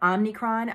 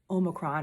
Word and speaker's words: omicron: headlines about omicron omicron the way that everyone's pronouncing it is not omnicron i am not an expert at the greek alphabet but it's not omnicron it's omicron or omicron variants can